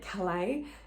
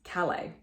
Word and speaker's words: Calais: and calais is um don't try and say kalei it's calais so warwick is chancellor and